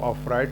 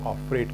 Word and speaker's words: afraid: मैं यहाँ एक बात बताऊं, अमेरिकन एक्सेंट में अफ्रेड को अफ्राइड कहते हैं और ब्रिटिश एक्सेंट में इसको अफ्रेड कहते हैं। यू can pronounce in both the ways.